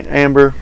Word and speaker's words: Ambre: So Baldessarini Ambre, or I guess you could say amber, but I think it's technically ambre, but amber, however you want to pronounce it.